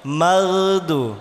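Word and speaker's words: مغضوب: Bukan maudu, bibirnya gak usah digerakkan. Ghairil maudu, keliru. Yang boleh menggerakkan bibir waw, mim. Berarti maudu, keliru. Bukan waw, oin. Magdu, bukan maudu.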